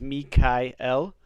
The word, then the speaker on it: Michael: The way that all of these angels' names are supposed to be pronounced is with El at the end. So it's Mikael, Gabriel, Raphael, and El is of God.